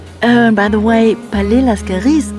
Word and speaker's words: Palais Lascaris: century go visit the Palais Lascaris. And by the way Palais Lascaris is pronounced with an S little detail we only found out later.